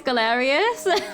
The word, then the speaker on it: Galerius: The only reason I remember Galerius' name because it rhymes with hilarious. So I just, in my head, he's Hilarious Galerius.